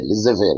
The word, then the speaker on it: laissez-faire: The pronunciation is laissez, laissez-faire, laissez-faire, laissez-faire. French word, let it be.